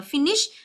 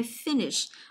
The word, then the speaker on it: finish: ở âm thứ hai, finish. Rồi chúng ta có occur, từ này đừng đọc là occur, nhớ chưa? Mà đọc là occur. Occur âm thứ hai, tiếp đến chúng ta